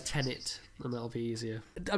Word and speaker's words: Tenet: who said you said it's pronounced tenet or whatever i thought it was tenant there's only one end just pronounce it as tenet and that'll be easier